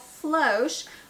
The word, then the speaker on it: floche: so floss versus flosh it is called flosh with the long o i do know how